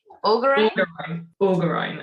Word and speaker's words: Orgoreyn: during and before recording, wondering how to say Ori. See, even I'm struggling now. Bean, help me. Augerine. Okay, great.